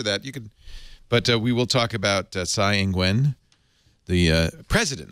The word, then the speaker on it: Tsai Ing-wen: We will talk about Tsai Ing-wen, the president, not prime minister. You have Tsai a president. Ing-wen. Say it again. Tsai Ing-wen. Tsai Ing-wen. Ing-wen. Ing-wen. There you go. That's better.